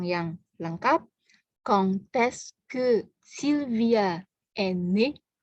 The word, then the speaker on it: quand: Kalau kita hanya mengatakan quand, D-nya nggak bunyi.